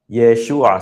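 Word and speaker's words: ישוע: Yeshua. So, it's not Yeshua. You know, I some people uh spell out uh the name in English as Y and then there's an apostrophe then sh Hua.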